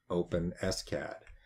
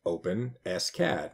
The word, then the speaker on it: OpenSCAD: how do you pronounce open s CAD and that's why I went onto their site and open s CAD is pronounced open s CAD not openscad and so what is